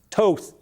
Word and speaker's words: Toth: Early vote in Harris, Toth.